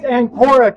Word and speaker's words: Anora: How do you How do you pronounce your cafe? It's Anora Cafe.